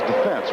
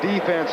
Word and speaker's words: defense: caused us to mispronounce that word the correct pronunciation is defense right but when they used to sit here and yell at Sam Huff defense defense all of a sudden we start saying